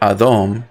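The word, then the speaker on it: אדום: watch what happens and the word adom very much similar to adam and earth adom means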